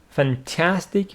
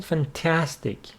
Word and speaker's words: fantastic: Fantastic, with the stress on the second syllable. Fantastic.